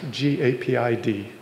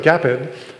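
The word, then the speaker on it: GAPID: a awesome new debugger I think it's pronounced G apid but maybe it's gaped it's gaped okay yeah the Google guys are saying okay so gaped um uh is a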